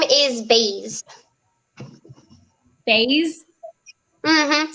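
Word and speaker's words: Baize: Yeah, my middle name is Baze. Baze? Mm-hmm. Spell it.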